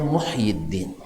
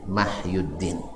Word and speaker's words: Muhyiddin: Ya, aslinya sebenarnya Muhyiddin. Muhyiddin, tapi orang-orang tua kita dulu ya mungkin salah baca sehingga dibacanya Mahyuddin.